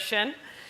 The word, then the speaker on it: Xin: you who don't know in China you always pronounce the first name last so I will be referring to her as shin I met shin through